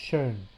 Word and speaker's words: schön: In this case, for example, it's using a digraph, combination of two vowels, to represent a sound that's between an O and an E, that is pronounced schön.